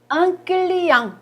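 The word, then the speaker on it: client: 조심할 점, 끌리양, 이건 끌리양이라고 발음을 하거든요. 이때는 이제 발음을 하지 않죠. 끝에 자음이니까.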